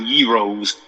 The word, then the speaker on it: gyros: chicago uh greek uh heroes as people call them gyros gyros but it's pronounced heroes um is it a